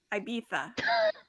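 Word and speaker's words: Ibiza: Are you Are you pronouncing the Z as a th Yeah. Okay. Yeah. IA.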